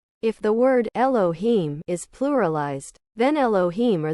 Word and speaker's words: Elohim: The H is pronounced like J, so the exact pronunciation is Elojim. If the word Elohim is pluralized, then Elohim are the army of the voice, composed of perfect male-female creatures.